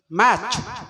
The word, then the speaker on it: match: Okay, my dear students, remember, match, not match. Match. T is silent.